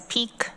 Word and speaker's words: PEQ: Uh, Planning, Energy, and Environmental Quality Committee, also known as PEK, which is how you pronounce PEQ.